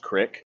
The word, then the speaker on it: creek: In some parts of PA, it's pronounced crick.